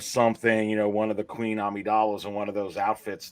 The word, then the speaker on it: Amidala: They'll say it like that because they don't even know it's Amidala.